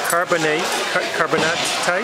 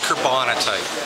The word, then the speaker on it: carbonatite: Now you've got, all fun put aside, you've got a Spanish River type of, it's a carbonatite? It's called, it's pronounced carbonatite. Carbonatite.